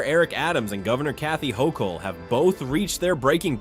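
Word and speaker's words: Hochul: Uh, what do you New Yorkers think of how Mayor Eric Adams and Governor Kathy Hokll yes. Yes, you pronounced IT RIGHT.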